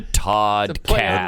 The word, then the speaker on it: Toddcast: Yeah, it's a Toddcast. Toddcast. Because it rhymes with pod, and his name is Todd.